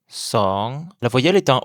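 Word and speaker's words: สอง: Le 2, song. La voyelle est un O ouvert comme dans son, mais long et qui finit encore par le son ng. C'est encore un ton montant comme une question. Song.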